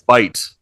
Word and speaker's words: Byte: Just Yeah, like and that's it's spelled BYTE. So yes, bite, like a, like a computer bite, I guess.